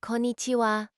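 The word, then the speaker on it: こんにちは: Remember, it's pronounced with the emphasis on the second syllable.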